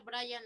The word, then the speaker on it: Brehan: Se pronuncia Brian Lázaro.